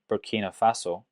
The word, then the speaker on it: Burkina Faso: Compared it to Burkina Faso, that's how you pronounce it. Yeah, Burkina Faso.